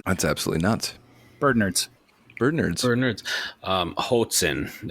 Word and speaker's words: Hoatzin: Hoatzin is how you pronounce that.